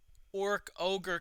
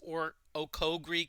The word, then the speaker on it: Orkogre: go back to um orc ogre castle and thank you D Forte for telling me how to pronounce that because I always thought it was or oogi Castle or something like that okay oh yeah